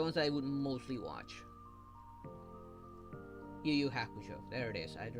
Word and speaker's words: Yu Yu Hakusho: Yu Yu Hakusho.